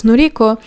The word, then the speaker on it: Noriko: I forgot to check how to pronounce the name of the author in the right way, and turns out it's not Noriko, it's Noriko, which I suspected.